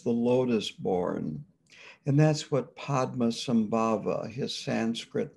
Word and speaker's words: Padma: lotus-born and that's what padma sambhava his sanskrit name is padma sambhava padma is lotus the tibetans pronounce padma as pema sambaba is born then